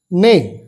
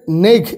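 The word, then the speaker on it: neigh: ক্ষেত্রে বেবি হলে ফোল নেই জিএইচ এ এর নেগ এরকম উচ্চারণ হবে না নেই ডঙ্কি ফোল ব্রে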